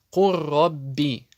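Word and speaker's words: قُل رَّبِّ: Это буква лям и ро, когда вместе встречаются. Курробби. Лям не произносится по определению идгама полного.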